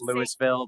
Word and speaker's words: Louisville: The rest of you, there will be a class after to let you know how it's actually pronounced Lewisville, but said it.